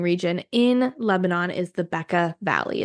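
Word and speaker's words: Bekaa: main wine growing region in Lebanon is the Becca Valley it's spelled be K Ka a this produces 90%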